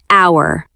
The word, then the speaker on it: hour: And we learned the silent h in the word hour.